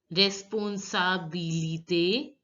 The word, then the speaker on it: responsabilité: I is pronounced as E.